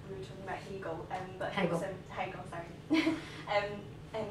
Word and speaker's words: Hegel: Hegel. Just pretend it's spelled H-A-Y. Hegel.